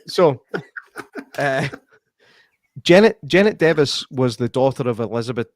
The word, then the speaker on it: Device: Janet Davis I keep I need to tell myself to say Davis because I keep what he said device because that's how it's spelled and it's also how